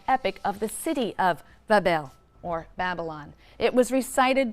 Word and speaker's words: Babylon: shrine or temple in babylon pronounced babel which simply means gateway